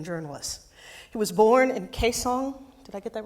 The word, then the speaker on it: Kaesong: He was born in Kaesong. Did I get that right, sir? Kaesong? Correct spelling or pronunciation, Korea, and came to the United States journalism in 1950.